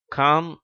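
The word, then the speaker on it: calm: முதல் வரிசை இந்த வார்த்தைகளில் முதல் வார்த்தை காம் என்று உச்சரிக்கப்படுகிறது இரண்டாவது வார்த்தை பாம் என்று உச்சரிக்கப்படுகிறது இவற்றில் எல் என்ற உச்சரிப்பு மறைந்து விடுகிறது அதாவது சைலெண்ட் லெட்டராக ஆகிவிடுகிறது ஆனால் அடுத்து மூன்றாவது வார்த்தையும்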